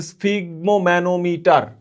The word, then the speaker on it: স্ফিগমোম্যানোমিটার: রক্তচাপ মাপার যে যন্ত্র তার নাম হচ্ছে স্ফিগমোম্যানোমিটার। এটা মুখস্ত রাখবা।